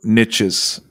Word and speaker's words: niche: yes and is it niches or niches it's both i think it's niche americans tend to say niche yeah there's no t though because it's right because it rhymes with rich it does yes they